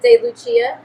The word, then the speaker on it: DeLucia: dad ever gave me so it is said de Luchia it's Italian it's not Spanish it's